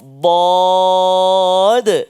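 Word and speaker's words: ض: Kemudian dalam ayat yang ke-199 ini juga kita jumpa 2 tempat yang melibatkan huruf dad. Cuba sebut. Dad. Oh, dia kata selalu sebut dot je, tak ada de tu.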